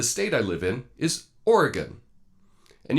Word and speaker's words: Oregon: in is Oregon and you can remember this quite easily you can just think of the question hey did you take care of that thing yeah I took care of that thing yeah did you use a knife or a gun just remember that phrase and you'll always get the pronunciation of Oregon correct anyway that's my thoughts